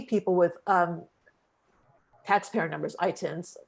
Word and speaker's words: ITIN: with um taxpayer numbers itins right that's how you say it um coming to do